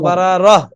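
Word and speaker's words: بررة: আর অক্ফ করলে কি হবে তখন? গোলতা হা হয়ে যাবে না? বারারত না তো, বারারহ। কি হবে? বারারাহ। এই টানটা হবে না, বারারহ।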